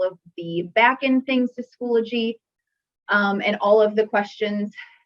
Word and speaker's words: Schoology: heard a lot of schoology but it is pronounced schoology so welcome to the admin training for schoology